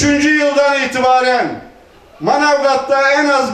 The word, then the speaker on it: Manavgat: ediyorum ve Allah'ın izniyle Manavgat'ta işsiz ve aş bırakmayacak Biz turistlerin deyimiyle telaffuzu zor olduğu için biliyorsunuz turistler Manavgat diyemez managat derler manatı Allah'ın izniyle 5